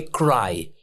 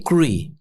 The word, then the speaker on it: cry: consegue perceber por exemplo imagina o verbo chorar que é Cry e o aluno achar que é cree ele nunca vai ouvir o nativ vai pronunciar cre é Cry cre poderia ser uma